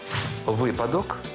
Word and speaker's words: випадок: українські словники не знають слова черговий Отже запам'ятовуємо випадок зручний черговий і таке наголошування ніякий не вибрик моди такий наголос ці слова мали і 100 років тому